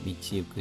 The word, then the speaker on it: 道行く: 미치유크 히토 미치이크라고도 발음이 됩니다. 이크 또는 유크 미치유크 히토노 길을 걷는 사람 행인의 스가다와 모습은 마바라 하면은 드문드문함이라는 뜻입니다.